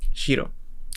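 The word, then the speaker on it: しろ: Nuestro ejemplo, shiro, que significa blanco, y pues lo pronunciaríamos como shiro.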